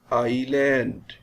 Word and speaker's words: island: list of silent words s is silent in island i'll t is silent